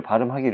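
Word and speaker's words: 밤길: 그래서 우리 는 그것 을 " 밤킬 " 이라 고 발음 하는 것 입니다 .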